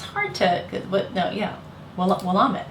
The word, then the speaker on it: Willamette: Davidine, drink, and I always thought it was pronounced Willamette. And they're like, no, it's Willamette. That's hard to, but no, yeah, Willamette, right?